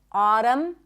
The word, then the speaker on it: autumn: The N is silent in the words hymn, not hymn, condemn, closing my lips, ending with an M, autumn, and government.